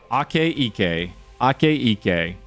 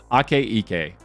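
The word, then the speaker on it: Akaike: Ake Ike. I remember Dr. Bosdogan told me how to say it, or Bosdogan, so I got to practice everyone's names. Ake Ike.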